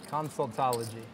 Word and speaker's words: consultology: Consultology. Like that? Is that helping remove people's tonsils? Not tonsultology. Consultology. Come on. If you're going to say it on national TV, you got to say it right. Consultology.